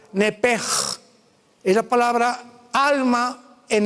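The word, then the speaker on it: נפש: nepesh, como suena, N-E-P-S-H-M, nepesh. En el hebreo se pronuncia la SH como J, nepej.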